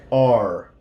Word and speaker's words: our: ER combination is an This word our can also be pronounced like R. Nuestra casa, our house, our house. Most people are going to use this sound, R, because it's easier. Our house. This is the one I use, R.